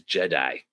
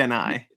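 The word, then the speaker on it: Gennai: Yeah, I always heard it pronounced as Jedi. Jedi? No, it's Y- Genai. Yeah, I didn't hear the N. It sounded like a D to me as a kid.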